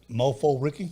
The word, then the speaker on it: Mofo Ricky: Okay, then we come to track 8, Don't Come Back, featuring Mofo Ricky. Yes. Did I pronounce that right?